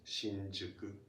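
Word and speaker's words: 新宿: Shinjuku is pronounced like this, one of the normal ways, Shinjuku.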